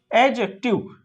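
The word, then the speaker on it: adjective: क्या होता है इसका, ये जो डी है ना, ये आप जो डी देख रहे हो इसका, ये क्या होता है, साइलेंट होता है। क्या होता है, साइलेंट होता है। क्या पढ़ेंगे, एडजेक्टिव, है ना, एडजेक्टिव।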